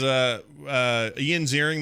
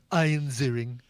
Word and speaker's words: Ian Ziering: Does Ian Ziering make any Sharknado references or anything?